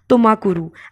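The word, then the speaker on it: ತುಮಕೂರು: बहुत easy according to मी, एक बार आप प्रोनाउंस करके देख लेंगे आप लोग को बहुत इजी लगेंगे, that is Chikka मागलुरु एंड तुमकुरु। I'm repeating again, Chikka मागलुरु एंड तुमाकुरु।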